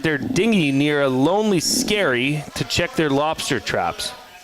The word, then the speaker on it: Skerry: It rhymes with fairy. SKAI. No. The other fairy that you take on boat. SKE. Oh, is it SKERRY?